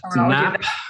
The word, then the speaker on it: Knapp: It's NAP, or it's spelled KNAPP, but NAP's relationship model.